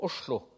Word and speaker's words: Oslo: Ainsi, en norvégien du Sud-Est, la sifflante S passe à la chuintante che dans le nom de la capitale de ce pays, autrefois Christiania, maintenant Oslo. On prononce donc Oslo.